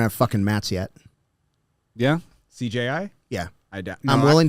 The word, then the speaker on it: CJI: CJI. Did I say that? You said it right, yeah. Yeah. Not CGI. I kept saying CGI last Yeah, time.